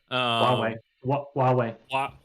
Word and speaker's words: Huawei: So this is DJI is basically being considered of I don't even know how to pronounce it, Hawaii on wings. Huawei.